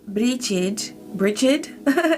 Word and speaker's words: Brigid: Okay, so let's see what Bridget is bringing through for you. Thank you, Divine. Trust the healing energy of the goddess. Cross the threshold. Bridget, pronounced Bridge in Irish, or Bridget in English.